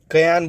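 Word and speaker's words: Cayenne: क्या है राजधानी इसकी कयान बोलते हैं या केन बोलते हैं कुछ भी बोल सकते हो अब स्पेलिंग याद ो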